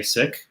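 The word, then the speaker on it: Sikh: preference it's to say sick and the reason why is because uh that's the original pronunciation in punjabi as opposed to the colonial pronunciation i i think that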